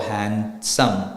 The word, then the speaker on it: handsome: speaking part is different likewise for handsome h a n s o m pronoun but when you write it it's h a n d s o m e right half h a